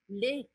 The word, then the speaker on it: le: o lá de cima, a pronúncia é assim, ó. Lê. Tipo o verbo ler, tá? Lê, lê, lê. Então, o que, que você tem que perceber? Que aqui o som é fechado, le, e aqui o som é aberto, lê.